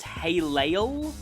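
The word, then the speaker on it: Helel: Halel, well, that's the way the main characters say it, but I think it's supposed to be pronounced Halel, is, well, the short version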